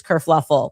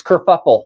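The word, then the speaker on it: kerfuffle: Prince Harry abdigates England causes this whole race kurfluffle. Oh no, that's it's kurfuffle.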